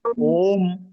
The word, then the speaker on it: ओम: हां इसमें मा जैसे ओ बड़े उ की मात्रा के ऊपर चंद बिंदी लगाते हैं ना तो ओम पढ़ते हैं आ उ म की तरह से उसका कहते हैं अलग-अलग लिखे आ उ म ओम तो उसी तरह से इसमें भी चंद बिंदी है।